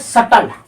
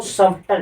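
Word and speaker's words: subtle: पर अब जैसे एक होता है सटल जैसे इसको सबटल इसकी स्पेलिंग क्या होती है सब टल एस यू वी टी एल इ लेकिन इसको पढ़ते क्या है? सटल। क्या पढ़ते हैं इसको हम? सटल पढ़ते हैं।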